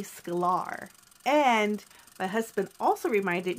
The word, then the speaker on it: Sklar: midea how embarrassing so his name is not Marty Schuyler it's Marty Sklar and my husband also